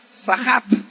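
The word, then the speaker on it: צחק: La palabra que aquí dice burlarse en el hebreo es una palabra que se pronuncia sahat.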